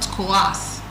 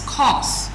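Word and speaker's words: coarse: Some people call it coass, but it's co.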